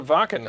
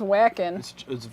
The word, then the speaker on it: Wacken: got an invite to wacken next year would love to get your ear on it oh they're going to vacant huh nice yeah sorry it says whacking it's pronounced by German yeah it's a German